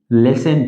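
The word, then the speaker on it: listen: लिसन टू मी। एल आई एस टी ई एन होता है। इसको लिसन प्रोनाउंस करते हैं। ओके? लिसन प्रोनाउंस करना चाहिए।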